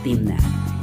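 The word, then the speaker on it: תמנע: climate in the valley pronunciation in hebrew is timna and it's located also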